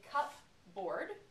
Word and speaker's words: cupboard: Where saying the bases separately, I would say cup, board, cup and board, but when I put it together, I call it a cupboard.